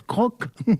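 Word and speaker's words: CROQ: En sigle C R O Q, ça se prononce croc comme une marque de biscuit, c'est pas sérieux.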